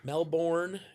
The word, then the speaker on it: Melbourne: Melbourne is how it's spelled, but not how it's said. It's same as fur, right?